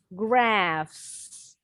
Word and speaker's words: graphs: Graphs, PH-nya bunyinya F. Graphs artinya grafik dalam bahasa Indonesia. Bacanya boleh graphs, boleh graph.